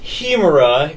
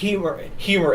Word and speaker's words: Hemera: It's not pronounced Hemera. It's pronounced Hemera as in hedge. Hemera? I've heard it was pronounced Hemera, and I, in fact, have had a couple people tell me that the H is silent, so it's Hemera.